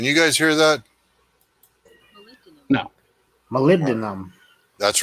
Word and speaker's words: molybdenum: WFT molybdenum can you guys hear that no molybdenum that's right that's exactly right Travis that's